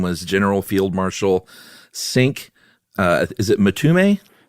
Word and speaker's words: Cinque: Mtume and it might be Cinque. Oh, really? Yeah, cuz they were super into Che Guevara and the Cuban Revolution. So, anything that looks even remotely Spanish is probably pronounced like that.